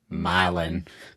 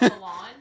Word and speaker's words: Milan: The famous famously famously uh Tennessee horrible at pronouncing uh city names most notably M I L pronounced Milin. Not Milan. Not Milan. Milin.